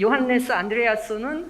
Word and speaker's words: Johannes Andreasson: 똑같은 이름을 가진 앤더슨, 이 요한네스 안드레아스는 스웨덴식 발음이고 이걸 영어식으로 하면 좋은 앤더슨이 되거든요.